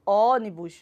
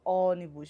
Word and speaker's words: ônibus: assento e aqui na última palavra ônibus e qual é a minha sílaba tônica onde ela tá olha aí o não é isso então eu falo ônibus não eu não falo ônibus eu falo ônibus vejam como o som já tá saindo mais fechado da minha